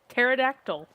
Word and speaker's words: pterodactyl: Uh so s yeah yeah silent letter. Oh my gosh. Pterodactyl. Tell me pterodactyl does not start with a t.